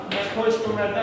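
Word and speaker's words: ग्नैथोस्टोमेटा: Vertebrata में दो division किए गए, एक एग्नेटा जॉलेस और दूसरा नेक्रोस्टोमेटा, जी साइलेंट है यहाँ पर, ये विद जॉ होंगे।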